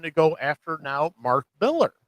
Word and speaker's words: Millar: I was gonna say, end of the day, Mark Millar, or Mark Miller, whatever you say his name. I've been going back and forth like all week. It's like I've been saying Millar for so long, but it's kind of one of those.